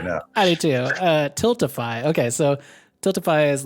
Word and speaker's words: Tiltify: And I was gonna go through because I can never pronounce the name of the fundraising organization. I think it's Tilfity? Tiltify.